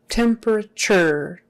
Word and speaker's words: temperature: his temperature temperature so temperature temperature biggest accent is on the first one the second is on